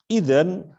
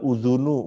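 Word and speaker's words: إذًا: Idzan, nah itu bacanya idzan ya. Bukan udhunu, bukan idini, apalagi adana.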